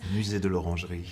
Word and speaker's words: Musée de l'Orangerie: Musée de l'Orangerie. Yes, thank you for the pronunciation of it.